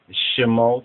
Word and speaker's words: Shemot: first two words um some pronounce it shim or really more correctly shim and these are the